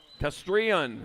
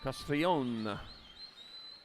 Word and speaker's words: Castrillon: Castrillon, that's what it is. Castrillon. Got to make sure I pronunciate it right as they head on into the Tulsa turn.